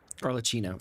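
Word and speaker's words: Arlecchino: AR leino like Cheetos her name is Italian anytime there's a double C in Italian Chi like Gucci fucini okay okay okay orcino okay I can I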